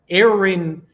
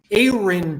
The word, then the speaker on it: Aaron: snap he liked that Aaron Aon Brewer by the way like a y r i n Aon Brewer that's how he would like to pronounce it he asked me to